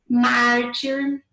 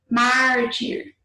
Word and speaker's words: mártir: Mártir, né? Então, você vai ver que qual é a sílaba mais forte. Mártir. Qual que é a mais forte? Se for paroxítona terminada em R, tem que acentuar.